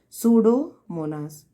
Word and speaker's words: Pseudomonas: is done by the pseudomonas bacteria okay p is silent children it is called as pseudo monas clear it is called